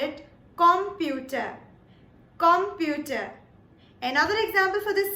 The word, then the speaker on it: Computer: Now, these are, for example, number 1, computer. The only difference that we have is in the pronunciation. In English, we call it computer, while in German, we call it computer.